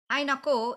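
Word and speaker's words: hay(na)ku: writes it is so hainaku is is two words h-a-y and then n-a-k-u but the high not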